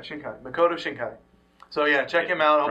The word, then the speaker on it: Makoto Shinkai: you Shai Makoto shinai I was right shinkai Makoto shinkai so yeah check him out hope prob way wrong it's us pronouncing it yeah it's us pronouncing it um